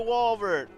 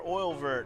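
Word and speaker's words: Oeilvert: So anyway, we're off to Walvert, or Oilvert, however you want to pronounce it. I might even call it Walvert every once in a while, just because that's the name I looked up much later in my life to learn how to fucking pronounce it.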